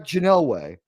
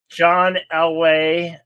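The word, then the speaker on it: Elway: Janelle way former quarterback Janelle way is that how you say it John lway oh how dare you T get his name wrong I thought it was like a Kryptonian name like the way I read it it was like all one word like Janelle way I'm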